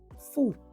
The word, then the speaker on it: fu: Vandaag kijken we naar het bezit aangeven met het voorzetel fu. Fu is precies zoals je het uitspreekt. De U wordt als een OE-klank uitgesproken. Oe.